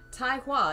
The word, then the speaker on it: Tai Hua: taiwa is truly noble double guessing all my pronunci tai okay so i was right it's tai sometimes i'm right tai hua is truly noble if it was him he